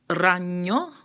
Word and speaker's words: ragno: The same thing for the letter N. If I say ragno, that's R-A-G-N-O, that means spider. If I say rana, R-A-N-A, that means frog. So rana, ragno. So the difference, it's different, it's spelled differently, but it's also, the way you pronounce it is also different.